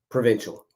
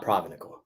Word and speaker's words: Provincial: Provincial. Not Provenical.